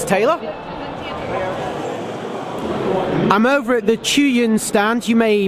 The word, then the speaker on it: Zhiyun: I'm over at the Zhiyun stand. You may pronounce it as Zhiyun.